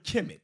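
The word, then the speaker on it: Kemet: do this it says the term kimet pronounced kimet is often translated as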